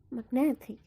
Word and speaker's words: magnetic: For example, in the word magnetic, the stem is magnet. The suffix is ic, magnetic. The stress moved from mag to net. So if there's no suffix, you're going to pronounce magnet. But if there's suffix, you're pronouncing it magnetic. The stress is in the syllable net.